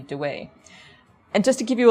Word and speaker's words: Dawei: Also, the Burmese contemporary pronunciation would be Dawei.